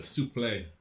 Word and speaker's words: suplex: name for suplex sorry the other pronunciation of suplex souplay to play it was a soft x yes the french x because it was uh